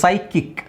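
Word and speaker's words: psychic: ಸಂತುಲನ ಕಳ್ಕೊಂಡಿರುವರು okay so ಸೈಕಿಕ್ ಹಾಗೆ ಇಲ್ಲಿ ಸೈ kick P ಎಸ್ ವೈ ಪಿ ಎಸ್ ವೈ ಬಂದ್ರೆ ನೀವು ಸೈ ಅಂತಾನೆ ಹೇಳ್ಬೇಕು ಪಿ ಎಸ್ ವೈ ಬಂತಾ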